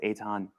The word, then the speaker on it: Eithan: Yeah, well, my name is Eithan Haim, and even though it's spelled Ethan, it's pronounced Eitan.